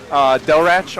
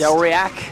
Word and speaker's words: Delrach: Delrach on Twitter. That's how it's actually pronounced. Delriac? Yeah, nope, that's definitely wrong.